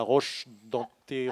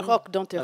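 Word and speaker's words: Roque-d'Anthéron: concert dimanche à la Roche d'Anteron. À la Roque d'Anteron. À la Roque d'Anteron, je l'ai mal prononcé.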